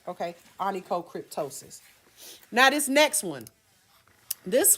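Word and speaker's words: onychocryptosis: cryptosis and toe my toe sis right okay anicocryptosis now this next one this one often mistaken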